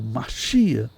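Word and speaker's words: משיח: O termo Messias, ou Machia, dependendo, né, da pronúncia mais, vamos dizer, ligada ao hebraico, né?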